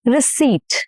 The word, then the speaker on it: receipt: Receipt, receipt, and not receipt. No, no per.